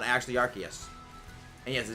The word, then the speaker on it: Arceus: thing the Arceus we know is not actually Arceus and yes the name is pronounced archaeus because uh that's the whole reason why the